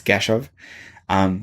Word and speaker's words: Keshav: Someone at work this week called me Kev. I was like, no, my name is not Kev, it's Keshav.